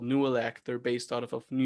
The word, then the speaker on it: Nooelec: Yeah, they Nuelec is spelled Nooelec.